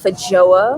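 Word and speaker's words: feijoa: variant of it and i am told this is pronounced faja i don't know what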